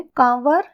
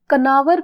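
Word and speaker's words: Kanawar: है उसके बाद है कंवर या कई बार इसे कनवर भी प्रोनाउंस किया जाता है या कनवर वन्य जीव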